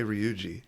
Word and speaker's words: Ryuji: You could pronounce it like a D. Really? Duji. Ruji. Okay, I'm trying my best. Anyway, father comes in. Ruji. You can always just say Ryuji. Ryuji.